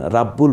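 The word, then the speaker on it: ربّ: উচ্চারিত যেমন খলিদিন সামাদ রব্বুল আলামিন রাব্বুল বলছি না রব্বুল বলছি র এর উপর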